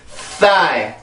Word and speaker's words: thigh: 그 성대를 이용해, 긴장을 시켜서 강세를 만들어줘야 되는데, 강세가 있는 음절의 시작이 자음들일 경우에는 요 소리가 굉장히 강해져요. 그래서 발음을 해볼게요. thigh, thigh, thigh.